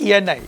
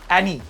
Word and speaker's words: Eni: The correct answer is ENI. It rhymes with you. Annie.